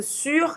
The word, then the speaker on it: sur: Então avoir la tête sur les épaules. Presta atenção aqui na pronúncia sur. Faz a boca do U e fala aí.